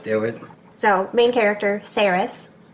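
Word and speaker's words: Saeris: ready yeah let's do it so main character sarus sarus how do we spell it s s a e r i s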